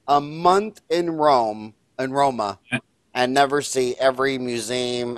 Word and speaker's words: Roma: no do you call Rome robots yes you you pronounce it Roma right roll oh my oh my yes Roma Oh only Americans call it rome roma but i ain't